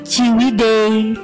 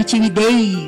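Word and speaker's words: Ciwidey: Mama ini apa gitu itu ciwide tapi pakai ejaan lama t j i w e d e j gitu kan bacanya ciwii gitu kan Bu edita Tadi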